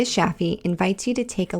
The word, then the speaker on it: Shafie: Connect with her on LinkedIn or Instagram at Sheeta Shaffi to learn more. Sheeta is spelled Shideh, and Shaffi is spelled Shafie.